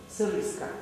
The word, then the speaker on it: Sariska: Sariska. Sariska. Yes. Sariska. S-A-R-I-S-K-A. Вот это произнеси, как слово это произносится.